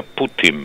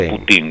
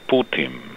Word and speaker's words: Putin: Se pronuncia Putin. No Putin, como sí. dicen algunos. Putin. Casi como si fuera M final, pero no es M.